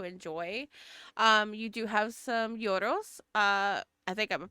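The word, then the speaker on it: gyros: You do have some yoros. I think I'm pronouncing it right. It's your, because the G is silent, and that it's the wrap filled with meat and like particularly lamb.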